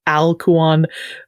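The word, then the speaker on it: ἀλκυών: with what is called a smooth breathing mark which is the diiocritic that would indicate aluan versus a rough breathing mark which is would indicate hal kuan. It makes that age sound.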